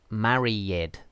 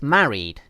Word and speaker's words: married: is it married okay so simple answer is it's married not married this is wrong marry yet you see so here she's she's asking is it is it three syllables basically marry it marry yet no it isn't it's two syllables married with a long e sound here okay something like